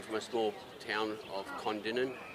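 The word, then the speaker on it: Kondinin: But in WA, we come from a small town of Condinan. K O N D I N I N. Uh, one thing I've found our pronunciation of towns here and over east as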